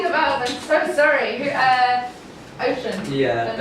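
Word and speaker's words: Ossian: Ocean. Yeah, it's spelled, so it's O-S-S-I-A-N.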